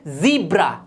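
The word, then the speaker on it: zebra: बिल्कुल गलत, ये होता है ज़ीब्रा।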